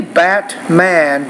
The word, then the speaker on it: Batman: was saying here is if you are familiar with the glottal stop and wasn't 15 the answer is no so you can say bat-man but a lot of native speakers I want you to also be familiar with this pronunciation let me read